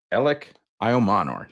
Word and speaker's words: Elic Ayomanor: and that is, and I did check the Stanford website for the pronunciation here, that is Stanford wide receiver Elic Ayomanor. Elic Ayomanor. That is my understanding. That is how I read the pronunciation guide.